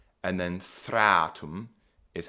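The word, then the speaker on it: þreatum: Shadana is how this word is pronounced and then thratum is how this word is pronounced.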